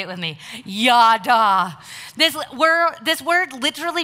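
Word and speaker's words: ידה: the hebrew word used here for praise is pronounced ya da say it with me ya da this where this word literally means to revere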